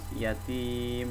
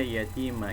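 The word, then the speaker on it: اليتيم: Nah, di sini pun harus disukunkan kalau berhenti pas yatim, jangan dibaca yatima ya teman-teman.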